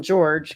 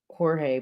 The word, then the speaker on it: Jorge: I'm going to call him George because it sounds like that's how he pronounces his name. I was looking at it in writing, so I was calling it Jorge, but I guess with the G there, it's okay, whichever. So George, in the suitcase.